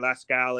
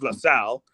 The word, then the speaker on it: LaSalle: that other time saying LaScal is the man. Also, that's not how you pronounce my name. It's LaSalle. LaSalle.